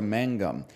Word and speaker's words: magnum: go here we go the Latin Magnum is actually pronounced closer to Mangum with how ancients tended